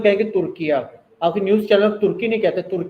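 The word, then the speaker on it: Türkiye: ये spelling use करने उर्दू में तुर्किया कना तुर्की नहीं कहना और इ तुर्किया जैसे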